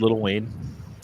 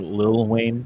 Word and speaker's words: Lil Wayne: did you guys know that the Mayes predicted Little Wayne or Lil Wayne Sorry gota say it right yeah it's not